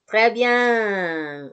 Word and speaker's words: très bien: Très bien. Iya. Ini O, ini U. Tadi P-nya di akhir nggak dibaca. Jadi, très bien.